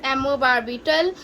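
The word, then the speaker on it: amobarbital: सबसे पहली ड्रग आती है हमारे पास एमोबारबिटल, इट इज प्रोनाउंस्ड एज एमोबारबिटल।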